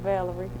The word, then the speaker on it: Valerie: That's his name, Valerie. Valerie. Like a woman.